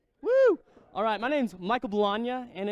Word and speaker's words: Bologna: Alright, my name's Michael Bologna, and it's Bologna like lasagna, because the next time